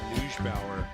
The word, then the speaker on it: Neubauer: Aaron, good job with Neubauer. That was something we were debating last night, but that is the actual pronunciation.